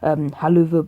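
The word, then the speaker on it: Helluva: Haluva boss. It's like it's a strange word that's supposed to be howl of a boss.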